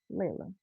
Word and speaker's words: Leila: Layla. Print. So we're going to put Layla's name right on there. Here we go. Turn you off. So her name is spelled Leila. Layla.